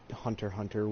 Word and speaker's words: Hunter x Hunter: if I remember correctly it's like pronounce hunter hunter which I don't understand there's an X in there I'm saying Hunter x Hunter and no one will stop me but but anyway the